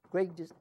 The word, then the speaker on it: Grigg: Who is Grigg Designs?